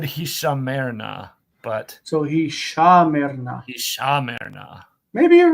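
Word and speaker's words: הִשָּׁמֶר־נָא: This is not word stress. It's just saying that it's a long vowel that's in a distant syllable and is not reduced.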